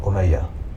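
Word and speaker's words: Umayya: The Omeaya dynasty is named after this man here, Omeaya. Not Muawa, but Omeaya.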